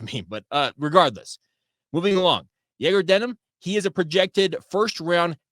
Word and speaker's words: Egor Demin: fluently, has said that the way that you pronounce Egor's name is Egor Denim, like a denim jeans.